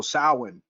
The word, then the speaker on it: Samhain: So Samhain, they're gonna spell it Samahain, but it's pronounced Samhain, like different, way different than what it's spelled.